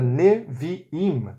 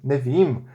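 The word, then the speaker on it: נביאים: Portanto, a palavra Neviim, Neviim, tem 3 sílabas. As 2 primeiras são abertas e a última é fechada.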